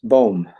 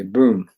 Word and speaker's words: Boom: name is spelled be why in D that's pronounced bom in English it would be boom Faith sees the invisible believes the unbelievable and